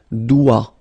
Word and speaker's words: doigt: Le doigt, Okay, so don't be frightened by this G, because basically you don't pronounce it, and then the final T you don't pronounce it. So the only thing you get to pronounce